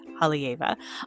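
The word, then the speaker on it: Haleiwa: Up in Hava, which is spelled H A L E I W A but said Hava.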